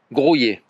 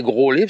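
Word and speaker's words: Graulhet: dans le Tarn, à Grouillé. Grouillet. Grouillé. Grouillet. Moi, je disais Groslay, ça s'écrit Lhet, mais il dit que ça se dit Grouillé.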